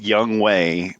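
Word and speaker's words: Younghoe: got traded midseason so his his name is pronounced young way but it is um he's I think it's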